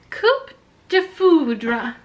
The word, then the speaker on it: coup de foudre: Coup de foudre. Or no, wait. No. You don't pronounce the P in coup.